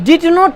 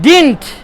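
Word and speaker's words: didn't: হবে না তাহলে এই ডিড নট এভাবে বলে না সাধারণত বলার ক্ষেত্রে লেখার ক্ষেত্রে এভাবেই কিন্তু বলার সময় বলেন অনেকেই ডিডেন্ট বলার চেষ্টা করেন উচ্চারণটা ঠিক হয় না নোট ডিডেন্ট বলেন ডিন্ট ডিড নট ডিড নট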